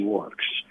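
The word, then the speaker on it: Werx: It goes under the name Monkey Works. Works is spelled W-E-R-X.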